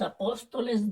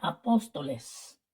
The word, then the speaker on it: apóstoles: estos instantes la palabra Apóstoles está mal escrita esta palabra es una palabra est drujula esto significa que el acento de voz cae sobre la antepenúltima sílaba de la palabra Apóstoles